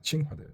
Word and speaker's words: 칭화대: 청와대가 아니네요. 발음이 청와대가 아니라 칭화대.